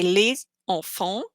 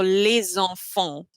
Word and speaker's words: les enfants: When you pronounce it, you basically connect the two words. For example, l'hôpital. For example, les enfants. So you don't say les enfants, because in French, it's always how it sounds. It's almost like like singing really. So les enfants.